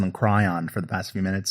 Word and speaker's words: Cryon: Okay, I've been pronouncing them cryon for the past few minutes. So anyway, maybe it is cryon. Yeah, cryon. You're right. It's like crayon, but without the A. Okay, cryon.